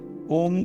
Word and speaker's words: ओम: है ओम बोलने से ओम का है उ अ म ऐसा कुछ बोलना पड़ता है मैं बहुत इसको डीप